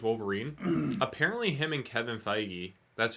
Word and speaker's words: Feige: of Hugh Jackman's Wolverine apparently him and Kevin feige that's how you pronounce it right foggy yep I had a